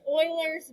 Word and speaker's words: Euler: last part of it but you would say oilers it's about e-u-l-e-r but i think it's pronounced oilers yeah it's oilers but it looks like it should not be